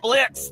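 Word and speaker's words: Blitzø: Uh Blitz? The O is silent.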